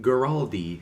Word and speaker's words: Guaraldi: Guaraldi.